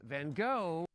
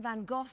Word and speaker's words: Van Gogh: Let's take a look at this Van Gogh. Wasn't it Van Gogh? I mean, that's just how I've heard it pronounced my entire life.